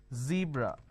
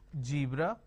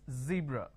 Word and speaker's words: zebra: they pronounce this as zebra Joan Jill so please don't make a mistake the moment you replace the Sir with a jar it's a mispronunciation it's not zebra it's zebra it's not John it is